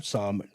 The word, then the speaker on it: Psalm: I guess I guess it's sort of like salmon.